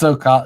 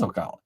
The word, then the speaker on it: Ocala: Nobody calls it that. It's Ocala. It was Ocala.